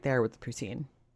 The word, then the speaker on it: poutine: And she's right there with the poutine. Sorry, poutssine, as Chantal pronounces it.